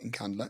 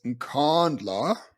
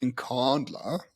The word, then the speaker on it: Inkandla: you said it wrong it's not in Canada it's inkandla you must follow what Jacob Zuma says is incandler button it's not your weird white way of saying it so just just